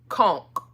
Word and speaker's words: conch: It don't look like it sounds but or it's not spelled like it sounds cuz it's spel it's it sounds like what you just spel you know how you spelled it but it's c o n c h conchk that sounds